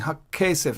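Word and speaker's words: הַכֶּסֶף: Because I'm saying Hakkesef. I'm doubling the K sound.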